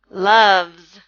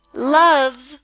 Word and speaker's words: loves: pet thing lives so loves and loves sounds like doves loves doves and the word lives